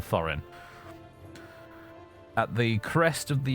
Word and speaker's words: Thorin: under the leadership of th thin or th really would be the correct pronunciation and Thorin at the crest of